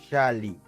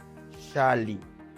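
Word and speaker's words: xalli: Pero ahora en náhuatl, cuando encontremos una X en cualquier palabra, va a sonar como SH, como un sh. Ejemplos: xonacatl, xonacatl. Cebolla, xali, xali.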